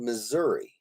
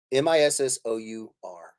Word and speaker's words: Missouri: miss our eye okay m-i-s-s-o-u-r-i Missouri I know it doesn't sound like miss our eye but it's how I